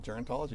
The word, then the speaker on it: gerontology: You studied gerontology, right? Mm-hmm. Is that how I pronounce it? Gerontology.